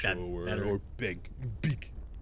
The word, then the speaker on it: BBEG: They swear you're supposed to pronounce it bebeg or bebeg. Beg. Bebeg, I I think. beg you to stop because that's terrible. That's a terrible way to say it.